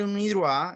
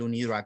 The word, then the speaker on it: UNIDROIT: Y si pasamos al UNIDROIT, el UNIDROIT tiene no solamente la convención, es